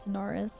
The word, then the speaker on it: Tanaris: Apparently it's pronounced Tanaris. I've been saying it wrong.